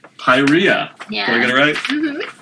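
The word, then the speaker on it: Pyrrhia: even try it spirea pyria okay that's great the double are you don't roll the are alright and final finally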